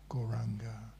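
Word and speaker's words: Gauranga: And today we'll be saying the mantra Goranga. Goranga. We say it in 4 syllables like that. The ga sound at the end takes the last of the breath out of your body.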